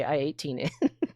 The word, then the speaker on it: i18n: And we call it I18N because I18N, that's 4 syllables. Internationalization, that's 8 syllables. So it's faster to say I18N.